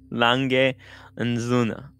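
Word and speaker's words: A. Lange & Söhne: I'm going to have Marcus tell us how to pronounce it again. Lange & Söhne.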